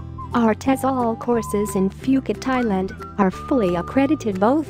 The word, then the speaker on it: Phuket: worldwide the beautiful tropical island of Phuket fortunately pronounced as Phuket is frequently and justifiably